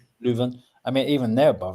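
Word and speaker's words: Leuven: Is it Leon? However you pronounce it. Luven. Luven.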